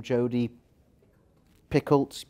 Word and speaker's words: Jodi Picoult: So first one, I can never pronounce the author's name, Jodi Picoult, thank you.